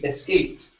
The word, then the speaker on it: escaped: up is escaped okay E ending sounds like a t escaped escaped good one one